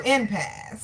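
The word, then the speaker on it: impasse: Impass. All right. The E is silent.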